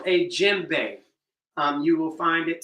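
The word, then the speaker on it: djembe: Uh, the D is silent, so some people just spell it J E M.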